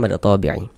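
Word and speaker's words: مد طبيعي: Ya, mad thbi'i itu kalau dalam penulisan kaidah bahasa Indonesia ditulis dengan a tuh th bukan th kalau digambar tuh d nah itu kami buat sesuai dengan pengucapan begitu bukan sesuai dengan kaidahnya bukan sesuai dengan kaidah bahasa Indonesia penulisan latinnya tuh itu mad thabi'i kalau penulisannya mad tabii dia begitu tapi bacanya mad thabi'i.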